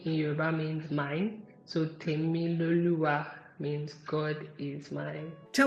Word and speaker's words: Temiloluwa: How did you say I pronounce it? It is called Temiloluwa. Temiloluwa.